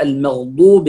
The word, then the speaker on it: المغضوب: فنقول دو ليس دو بعضهم يقول المغضوب عليهم هنا هي المغضوب عليهم الله هنا مضمومة مفخمة ولا الضالين هنا الواو